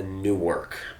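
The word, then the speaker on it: Newark: is a real place it's actually pronounced a new work new york he's buying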